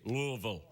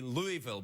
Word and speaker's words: Louisville: now when you print pronouncing Louisville is very important that you say Louisville because people it sounds like it'd be Louisville but if you go to